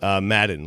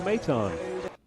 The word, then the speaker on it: Maton: Stugotz, how did you think the Mets reliever's name was pronounced? Madden, last name. Let's hear how it's pronounced. Out number 2, and that's 3 consecutive strikeouts for Phil Maton.